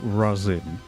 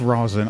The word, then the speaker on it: Rosen: So there we have the Michael Rossin. The Michael Rosen. I mean, it's pronounced rosin.